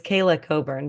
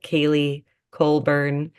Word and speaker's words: Kayla Coburn: It's Kayla Coburn, but I mean, I've had like Kaylee Colburn.